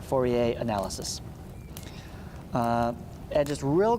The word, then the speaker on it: Fourier: called fourier analysis and i believe he was french that's why we don't pronounce the last r fourier analysis uh and just